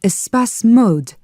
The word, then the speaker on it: Espace Mode: Chevral, your company is called Espace Mode.